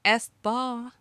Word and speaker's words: aespa: It sounds good and rhymes with spa, like aespa.